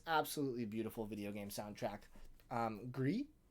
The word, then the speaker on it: Gris: Gris, it's the French word for gray.